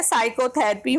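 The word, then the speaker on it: psychotherapy: ऐसे ही है साइकोथेरेपी में भी पी लेटर साइलेंट होगा।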